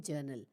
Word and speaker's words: journal: अब स्पेलिंग अगर आप देखोगे तो JOURNAL, तो आर कहाँ गया? जर्नल अगर हम बोल रहे हैं तो आर साइलेंट होता है, जर्नल नहीं कहा जाता।